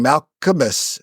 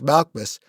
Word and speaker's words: Malchus: far gone to to to pronounce malchus you were doing malus it's malchus and I no that